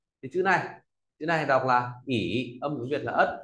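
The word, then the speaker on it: 乙: Thì chữ này đọc là ỉ, âm tiếng Việt là ất, là vị trí thứ hai trong kanji.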